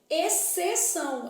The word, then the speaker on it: exceção: Exceção. É só o C que vai ter som.